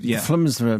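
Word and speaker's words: FLDSMDFR: Yes, because they pronounce SMD. Flumsra machine. Acting like a cross between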